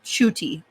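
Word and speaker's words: Ncuti: I believe you pronounce it like a CH. I believe that's what I'm hearing. It's like Shuti Gatwa.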